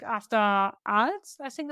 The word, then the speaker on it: Arles: No, it was like after Arles, I think it's a town called. I don't know if I pronounce it right. Yeah, Arles.